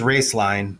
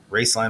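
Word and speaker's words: Roeslein: and uh so uh the name is raceline but it's spelled r-o-e-s-l-e-i-n and then Alternative Energy so raceline Alternative Energy yeah I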